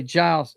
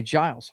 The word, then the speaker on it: Giles: That way, Giles. J is the right pronunciation. Okay, Giles.